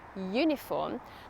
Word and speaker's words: uniform: However, if the vowel is pronounced like a consonant – here a /y/ sound ‘uniform’, then we use A.